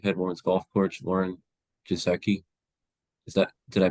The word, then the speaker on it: Giesecke: gr Canan University head woman's golf Co Lauren geki is that did I pronounce that correctly or how would you pronounce your last name yes H gizi gizi how are you doing good good doing well